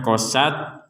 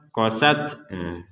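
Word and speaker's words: قَسَتْ: itu harus ada dengung ini huruf ta sukun ini kita ucapkan qosat kemudian ada nafas keluarnya nah sempurnanya itu ketika ada nafas keluarosat qosat tapi jangan kelebihan kelebihan nafas juga nanti osat qosat itu kelebihan jadi qosat kemudian ada nafas keluar letupan sedikit saja qosatku satku satku nah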